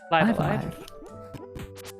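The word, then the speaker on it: Live A Live: I believe it's pronounced Live Alive. Live Or as Dot alive. put it, both lives pronounced with trive. Yes, Or rhyme with trive.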